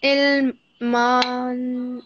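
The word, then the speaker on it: علما: Rabbi zidni ilman man. So when we make a pause, we say Rabbi zidni ilma.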